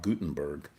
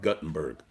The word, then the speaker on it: Guttenberg: Okay, so we're gonna move now over to our next artist, Rob Guttenberg, formerly known as Rob Guttenberg, but I'm gonna try and correct my pronunciation after 25 years. So Rob Guttenberg, gonna play his guts out.